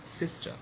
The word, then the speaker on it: sister: Look at this word sister. So here again the first syllable is stressed and the second is not stressed, okay, it remains unstressed.